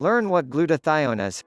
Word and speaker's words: glutathione: enough and how to boost your levels naturally pronounced glutathione glutathione gsh is made up of three different